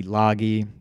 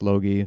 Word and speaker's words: Logie: Logan Logie calm looks like loggy but it's pronounced Logie so check them out